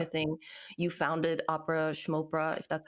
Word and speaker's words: Opera Schmopera: You founded Opera Schmopera, if that's how you pronounce it. Opera schmopera. It's like a kind of Schmopera. Yiddish thing.